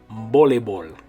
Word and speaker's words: voleibol: Okay, it's a cognate with the word volleyball, but the way you're going to say it in Spanish is voleibol.